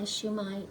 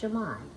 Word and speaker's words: siomai: It is spelled s i o m a i, but pronounced shumai, I believe.